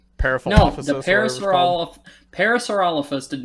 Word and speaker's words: Parasaurolophus: was the uh peripherals the paris were all parasaurolophus did not blow fire you can't even name